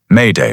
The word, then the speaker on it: Mayday: He took the phrase "m'aider", which means "come help me", and Anglicized it phonetically. Boom, Mayday was born.